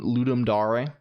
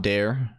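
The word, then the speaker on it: Ludum Dare: the way it's pronounced ludum Dar is is this is this it it's it's ludum ludum ludum Dar it is d right it's not it's not dare may maybe Jam starts in an hour oh it's 600 p.m.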